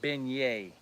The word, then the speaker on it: beignet: Mimi B says it's pronounced beignet.